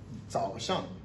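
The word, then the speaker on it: 早上: Et de 6 heures à 8 heures, on appelle ça Zao Shang. Zao Shang. Quatrième temps, troisième temps, quatrième temps, qui s'écrit comme ça.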